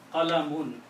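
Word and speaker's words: قلمٌ: To dhamma sound at the end. Mun, Qalamun.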